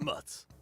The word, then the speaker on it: Mutt's: Here at Mutt's. Rhymes with butts.